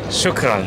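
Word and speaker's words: شكرا: And how you pronounce it? Oh, shukran. Shukran.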